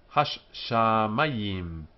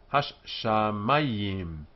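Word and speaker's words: הַשָּׁמַיִם: Hash shamayim. Hash shamayim. Four syllables. Hash. The dot here indicates the shin is doubled. Sham. Mayim.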